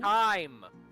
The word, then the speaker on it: thyme: Time. Thyme? It's Time. pronounced time.